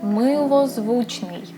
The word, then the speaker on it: милозвучний: And the way you pronounce it is милозвучний.